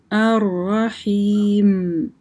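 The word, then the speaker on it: الرحيم: Последнее слово у нас было аррахим.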